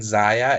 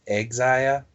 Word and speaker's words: Xia: Instead of saying Zaya, it's Xia. Because saying that to annoy us. Her name starts with an X. Ah, but the X is silent. It's pronounced like an S.